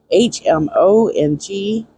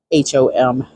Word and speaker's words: Hmong: give you the date there is a religion Hmong h-m-o-n-g is a very unique religion where they usually are either Christian or are traditional version of that hom sorry guys Hmong and they have very many